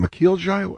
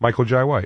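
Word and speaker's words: Michael Jai White: Shield guy by the way uh is it mckel J how do you say his name Michael J White Michael J white he was spawn Spawn movie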